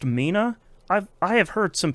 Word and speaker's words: Mina: Um, remind everybody it's pronounced Mina. I've I have heard some people pronouncing it in real wild ways online. It's just Mina like a person's name.